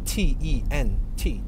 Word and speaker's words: tent: T-E-N-T, tent. Gotta spell it out because it sounds like I'm saying tint, like a tinted window.